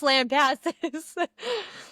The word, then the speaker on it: Lampasas: I said, I know I'm not the best at pronunciation, but I know that that's Lampasses.